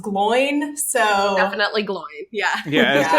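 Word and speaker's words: Glóin: a whole conversation about like yeah it's definitely pronounced glow in because the action is on the o and then in the audiobook it's pronounced gloin so definitely glowing yeah yeah as long time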